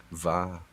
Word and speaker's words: mhath: You pronounce it Va.